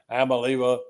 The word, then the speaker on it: Iamaleava: Iamaleava. Iamaleava.